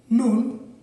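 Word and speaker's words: 눈: বন্ধুরা, আপনারা আরেকটি শব্দ দেখতে পাচ্ছেন যার কোরআন উচ্চারণ নুন, বাংলা অর্থ তুষার অর্থাৎ শোনো।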